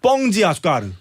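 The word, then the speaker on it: Pão de Açúcar: 심지어 브라질 쪽 가면 빵이 아니라 뻥이 돼 뻥. 발음이. 예. 그래서 거기 설탕 빵산이라고 있는데 뻥지 아수카르. 뻥지아과를 뻥지 아수카르.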